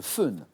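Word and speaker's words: foehn: relief, c'est très précis, c'est le fun. Ça s'écrit F-O-E-H-N ou F-O tréma H-N, fun.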